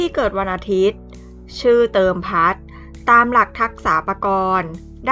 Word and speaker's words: เติมพัฒน์: ท พุท เฒ่า น หนู การัน อ่าน ว่า เติม พัด สะกด ด้วย ภาษา อังกฤษ T O E m p